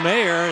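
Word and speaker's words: Meagher: name is spelled MEA gah ER but it's pronounced mayor and here comes the stars that would look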